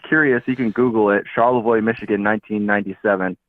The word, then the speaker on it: Charlevoix: Charlevoix, Michigan, 1997. It's spelled weird.